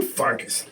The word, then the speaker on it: Pfarcus: hosts why not damn farcast the p is silent and um yeah what